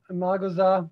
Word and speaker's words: Imagoza: Am I pronouncing my name correctly? yeah, Imagoza, Imagoza.